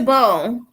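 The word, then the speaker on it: beaux: that oh it's a bowl the way the b-e-a-u-x is pronounced bo which is weird i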